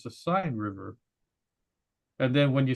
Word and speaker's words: Seine: And she goes, it's not the Seine River, it's the Seine River.